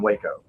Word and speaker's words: Waco: Waco and Waco. Three different ways to pronounce it. I think that's a W like Taco.